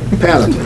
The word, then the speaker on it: panoply: whole panal how do you say that word panop panoply thank you see he's the smart uh of